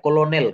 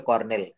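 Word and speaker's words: colonel: এই আর পাবেন না বানানটা খুব সোজা সাপটা সি ও এল ও এন এল সি ও এল ও এন ই এল এটা ক্লোনেল কিন্তু বলতে হবে কর্নেল দেখেন এই যে সি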